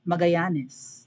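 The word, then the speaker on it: Magallanes: baka tano yan kasi nagiging silent yung double l even yung magalanes di ba magayanes ganon so on and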